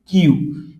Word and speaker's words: きゅ: আর কির সাথে যখন আমরা ইউ দিব, উচ্চারণটা হবে কি? কিউ।